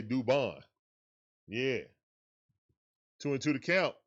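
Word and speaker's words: Dubón: We say it like Duvall, but we say Dubon.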